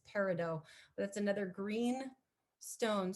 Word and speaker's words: peridot: Another one is peridot, sometimes pronounced peridot. I believe the original pronunciation is Latin and is peridot.